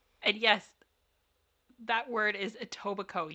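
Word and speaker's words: Etobicoke: yes that word is a toico you don't pronounce the k you don't pronounce the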